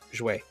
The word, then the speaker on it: jouaient: It ends in again AIENT, and it's pronounced jouer.